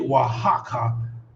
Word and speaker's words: Oaxaca: i don't how the hell do they get wahaka oaxaca out of that word you know what